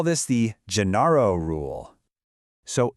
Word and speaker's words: Genaro: For example, J is pronounced he, like in the name Genaro, and G is pronounced he, as in girasol, which is a sunflower. You would never say guenaro or guirasol. No way. It's a total change of